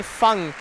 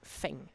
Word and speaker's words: Feng: By the way, Adam, it's interesting that you say Fong. In Germany, we thought, you explained it to me before, but in Germany, we always thought he's pronounced Feng. In maybe Taiwan, it's Fong.